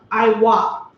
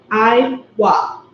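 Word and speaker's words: עוף: In Hebrew, fowl is pronounced Iwa. Iwa.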